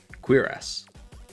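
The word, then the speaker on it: cuirass: So, I've just I've just searched to find Curus and it pronounces it quirass. It pronounces it as a kw i a s with like curves above the i and the a.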